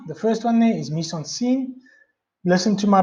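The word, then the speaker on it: mise-en-scène: to start now the first one day is miss on scene listen to my pronunciation of edits it's a bicycle originals French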